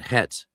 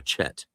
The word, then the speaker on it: Het: But Het is pronounced more of an H sound. It's never a Chet. It's never Chet, ever, in any dialect.